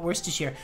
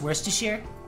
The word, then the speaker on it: Worcestershire: while we're talking about Worcestershire did you guys see I tweeted it earlier the way that man on Tick Tock catastrophically mispronounced where's to share how to wash your sister sauce not an ethical experience